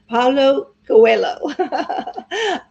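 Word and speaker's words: Paulo Coelho: anything in and ask for it to be pronounced so here's how we say his name ready Paulo Coello all right there it is okay ah Lisa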